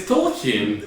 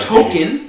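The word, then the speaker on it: Tolkien: ever pronounced it's not token anybody who speaks English should pronounce it I'm saying no one's pronounced it like you just did does it matter though we could all agree that it's not token I'm just saying a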